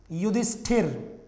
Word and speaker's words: युधिष्ठिर: कई बच्चे इसको क्या लिख देते हैं केवल, अच्छा बोलते क्या है युधिष्ठर, ऐसे बोल देते हैं। कई विद्यार्थी इस वाले शब्द को लिखते भी ऐसे ही हैं, बोलते भी ऐसे ही हैं, गलत है ये। आप शुद्ध उच्चारण करेंगे तो ही शुद्ध लिख पाएंगे, क्योंकि हिंदी एक ऐसी वैज्ञानिक भाषा है कि इसमें जैसा बोला जाता है वैसा ही लिखा जाता है। इसलिए युधिष्ठिर पढ़ें आप इसको और युधिष्ठिर ही लिखें आप इसको, ठीक है।